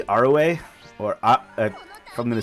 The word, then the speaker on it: Arue: Like I've been told I pronounce Aru wrong, but like looks like Aru to me. I think it's supposed to be Arue, or if I'm going